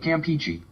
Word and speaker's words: Campeche: Look at Bay of Campeche. Peachy. Listen. Bay of Campeche. That's official.